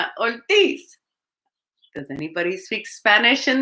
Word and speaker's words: Ortiz: i get hungry and i eat some of my letters so i eat the letter r so it's ortiz but when i say it in spanish it sounds like old teas so i couldn't pronounce